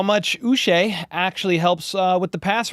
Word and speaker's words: Uche: They traded for Joshua Uche, rhymes with Boucher.